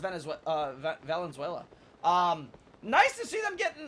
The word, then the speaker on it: Valenzuela: It's nice to see Cristina Venezuela start to get her, or Valenzuela, I'm sorry. Valenzuela, or is it No, it's Valenzuela. I believe it's pronounced Valenzuela.